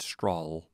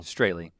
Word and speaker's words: Strahle: The first time I talked about Alex when we talked about Believe Me, I mispronounced his last name. I think I said Strahl. Oh. Straley.